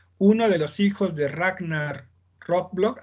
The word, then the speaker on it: Ragnar Lothbrok: Uno de los hijos de Ragnar Lothbrok, así se pronuncia, Nancy.